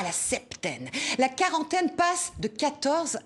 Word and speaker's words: septaine: En moyen français, on ne prononçait pas le P, on disait septaine, comme 7, le chiffre, on ne prononce pas le P dans 7, alors que dans septembre, ou dans 70, comme disent les Belges et les Suisses. Ce sont des mots donc, qui ont la même racine que le mot 7, septaine. On le prononce, le P.